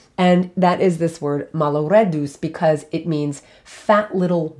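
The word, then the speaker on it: malloreddus: for this episode and that's a pasta called malo reduce okay malo reduce and that is m-a-l-l-o-r-e-d-d-u-s malo red deuce and that is a pasta you may know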